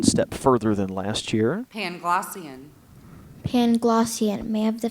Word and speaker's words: Panglossian: Voltaire mocked the philosophy of Leibniz as a Panglossian absurdity. Are there any alternate pronunciations? No. Panglossian. P-A-N-G-L-O-S-S-I-A-N. Panglossian.